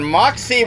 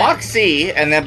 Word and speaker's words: Moxee: over in Moxee, Washington. That's Moxee, right. one word, sounds like two. It's not Moxee, it's Moxee.